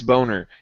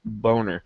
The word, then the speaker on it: Boehner: name his name is boner in absolute honor Boehner yeah but it is it is phonetically pronounced as boner yeah there's no let